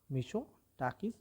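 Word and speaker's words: Μητσοτάκης: मिशो टाकस ठीक है कायर कोस मिशो टाकस यहां पर टी जो है वह साइलेंट रहेगा चलिए आगे बढ़ते हैं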